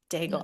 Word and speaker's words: Daigle: Daigle, Mhm. I said it right. Bagel. Dave Daigle.